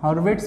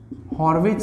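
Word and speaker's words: Hurwicz: तो third principal से related अब कैलकुलेशन करने का वक्त आ चुका है, हॉर्विट्ज प्रिंसिपल या sometimes it is known as हॉर्विच principal, ठीक है। नाम वाइज प्रोनाउंसिएशन थोड़ा अलग है, दो तरह से ये प्रिंसिपल फेमस है।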